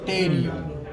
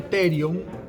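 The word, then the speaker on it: pterion: a conocer con el nombre de terion. Se escribe con P. Ese terion es un punto antropométrico donde converge el ala mayor del esfenoides, el temporal, el parietal y el frontal.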